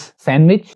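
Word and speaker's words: sandwich: लोग बोलते हैं सैंडविच, यहां पर डी साइलेंट है, इट्स सैंडविच, इसको लोग गलत बोलते हैं, सैंडविच नहीं होता, इट्स सैंडविच, आई एट अ सैंडविच just now.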